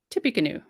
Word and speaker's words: Tippecanoe: they were supposed to ah thanks lorraine i pronounced it right tippy canoe so they said here construction began in the